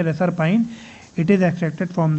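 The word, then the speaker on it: reserpine: तो रेसरपाइन जो है ना, रेसरपाइन एक्चुअली इसको प्रोनाउंस करेंगे रेसरपाइन, इट is extracted from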